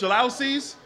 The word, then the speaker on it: jalousie: My wife and I, when we first got married, we had a 1,200 square foot apartment with those old jalousie windows, jalousies? That's how you pronounce it, the jalousie windows.